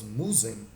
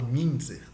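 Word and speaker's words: Müntzer: pregações do ah, Thomas Musen. Deixa eu pesquisar aqui para não falar besteira. É porque se escreve Munzer, mas se fala Minzer, Thomas Minzer, que é a experiência anabatista dos protestantes, né?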